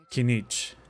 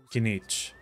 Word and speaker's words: Kinich: Kinich Kinich. So Kich's name is supposed to be pronounced like this name means the sun witness.